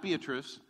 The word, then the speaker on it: Beatrice: Beatrice Nebraska it's not Beatrice its Beatrice because that's the way they pronounce it I don't care how